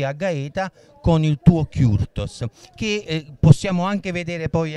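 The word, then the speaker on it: Kürtős: E si pronuncia, scusa? Kurtos. Kurtos.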